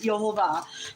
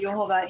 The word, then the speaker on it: Yehovah: the yod V and so I pronounce it yova people pronounce it different ways but I just pronounce it yehovah he is to be